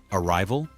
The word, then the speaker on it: arrival: Arrival is arrival, stressed on the second syllable as well.